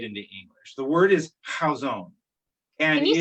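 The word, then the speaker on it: Chazown: tough to translate into english the word is how zone and can you spell that c-h-a-z-o-w-n i believe okay i craig um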